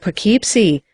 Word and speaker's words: Poughkeepsie: i said it's the same way with perkeepsie they pronounce it keep see the chinese he went